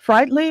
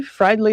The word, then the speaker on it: Fridley: He was born apparently in Frightley, Minnesota. Fridley, Fridley, I guess you pronounce it.